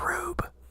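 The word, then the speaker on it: R/B: It's pronounced rube.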